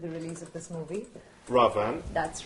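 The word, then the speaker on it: Raavan: Ravan. That's right, you pronounced it correctly.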